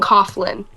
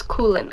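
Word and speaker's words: Coughlan: I was saying Coughlin, but it's Coolin.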